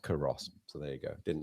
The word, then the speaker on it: Culross: It's pronounced Curross.